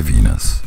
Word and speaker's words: Venus: And now, let us transition to Venus, a word that rhymes with keenness.